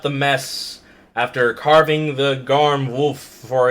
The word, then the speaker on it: Garm: Garm. Like a garment.